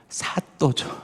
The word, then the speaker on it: 사또: 그 사람들이 누구였냐면은 바로 사또죠. 사또. 근데 이 사또가 제가 보니까 원래는 사도더라고요. 사도인데 이게 발음이 이제 된 소리가 나서 사또로 이렇게 부르게 됐는데, 자, 왕에게 보냄을 받아서 그곳에서 왕의 길을 가르치는 사람을 사도라고 이렇게 불렀습니다.